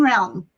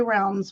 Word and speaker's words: Realm: Um people people don't say it right. They add an s. Okay. It's Tarot of the Hidden Realm. Thank you. Oh, Tarot of the Hidden Realm. A lot of people say realms plural, but it's hidden realm.